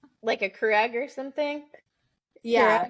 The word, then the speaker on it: Keurig: People let me just go by saying Keurig for the longest time. Keurig. That's the new title of the episode. I don't like it. Yeah, I don't like it. Crew egg. So it's spelled crew egg.